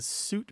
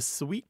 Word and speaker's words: suite: the other thing is the sweet pronunciation is kind of marked as fancy it's frenchified so if you want to see if you want to seem a little sophisticated you might say sweet and to show that